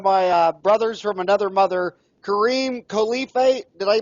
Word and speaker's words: Khalife: interviewing one of my brothers from another mother Kareem Khalifa did i pronounce all right Khalifa that is just perfect the honor is all